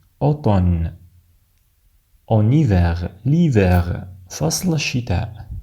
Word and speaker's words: automne: لا ننطق M في كلمة الخريف باللغة الفرنسية، لا نقول automne بل نقول automne.